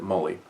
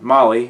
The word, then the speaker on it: MOLLE: I always pronounced it Molly, or Molly, depending on whether it was in my head or out loud, I guess.